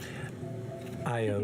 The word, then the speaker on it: Io: Io is a tabby. Io. Io. It's spelled I-O. Wonderful. Like the cow. The lover of Zeus.